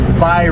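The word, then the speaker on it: Vye: I think she pronounces it Vi Road. V-Y-E.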